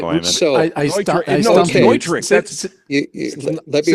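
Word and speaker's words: Neutrik: re-educating me that it's Neutric connectors, just like Neumann microphones. NEU is the first syllable when you look at that. And it's a German pronunciation, so it's Neutric, and I shall not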